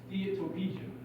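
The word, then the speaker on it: steatopygia: This is pronounced steatopija.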